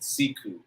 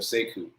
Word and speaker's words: Sekou: He pronounces it Sekou instead of Sekou, but it's spelled the same.